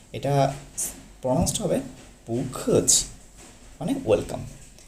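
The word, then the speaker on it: 不客气: ওকে, 10 নম্বর হচ্ছে পুখছি।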